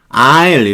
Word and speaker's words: isle: Isle 이렇게 봐요. 아일랜드 그럴 때 I라고 발음은 같아요. S는 발음이 안 되고요.